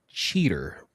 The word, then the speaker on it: Cheetor: Derek, if I may make a correction here as a new Beast Wars fan here, I believe it's pronounced cheater.